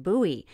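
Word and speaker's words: Buhl: posted by Roger Marsh an Idaho witness at Bowie that's spelled b-u-h-i reported watching three orange red rectangle-shaped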